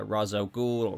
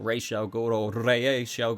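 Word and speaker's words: Ra's al Ghul: you said scarecrow but also liam neeson's uh razzo ghoul rachel goro however where you want to pronounce it league of shadows so maybe guys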